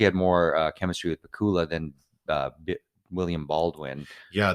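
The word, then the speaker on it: Pacuła: officer or whatever uh Joanna I think her last name is pronounced Pula uh the Polish actor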